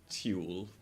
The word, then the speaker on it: tulle: It doesn't look like it's pronounced tulle, but oh, tulle. Tulle in American English rhyming with pool.